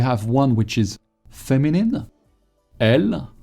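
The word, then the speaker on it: elles: one which is feminine l make sure not to pronounce the s at the end of l even if it's very tempting you want to say else stop no more it's over is there a difference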